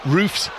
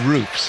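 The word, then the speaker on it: Roefs: to the Sunderland goalkeeper Robin Roofs, or Robin Roofs, as the pronunciation that I was. That's the second one's better. You should stick with that one, John.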